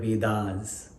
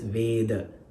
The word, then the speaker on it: Veda: We all have heard the word Vedas, which is said in English Veda. It is Veda. It's pronounced in Sanskrit as Veda.